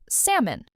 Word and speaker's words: salmon: Think of a person's name, Sam, plus a small un sound at the end.